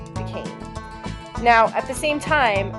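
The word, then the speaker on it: Duquesne: called Fort Duan now this is a really tricky spelling because it's French so I'll write it down for you and spell it out loud Fort Duane is f o r t space Duane is Du u q u e n s e Fort decain now at the same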